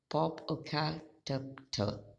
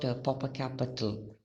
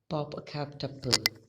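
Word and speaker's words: Popocatépetl: Chimborazo, Cotopaxi, okay, and Popocatepetl. It's not Popocatepetl. That's the pronunciation is a little different there.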